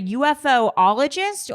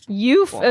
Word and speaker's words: ufologist: So, John, first of all, is it a UFOologist or a ufologist? Ufologist. It's neither. It's ufologist.